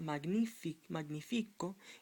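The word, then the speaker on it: magnífico: Magnifico. Magnifico. It's not magnifico, so an accent is required on the I to let you know that it's not magnifico, it's magnifico.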